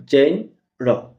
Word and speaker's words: genre: Today's word is genre. It's a noun. It has two syllables. Genre.